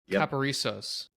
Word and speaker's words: Caparisos: I'm gonna read it paparisos you got it perfect first rip I got it oh shoot it sounds just like it's spelled but it's just so lengthy and it's in three parts that people just like